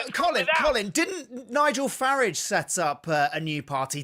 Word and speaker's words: Farage: Didn't Nigel Farage set up a new party? Two new parties if we're counting. Farage. Farage. Pronounce it the British way, please.